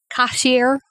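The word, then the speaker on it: Kashayr: cashier I like that one how do you spell that k-a-s-h-a-y-r cashier and then there's a whole bunch of stuff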